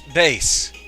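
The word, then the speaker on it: Bass: pretty crowded uh hi Bas the old man left me out of his plans again so I just came down to your lab also I'm not a fish it's Bas yeah I said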